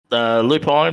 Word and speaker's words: Lupine: And Lupine, mate, is it Lupine or Lupine? Correct me, buddy. What how do you say? I don't even Lupin. Lupin. Yeah, Lupin.